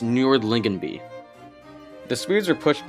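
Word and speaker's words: Nördlingen: of hang on okay so it's pronounced nordlingen be the Swedes are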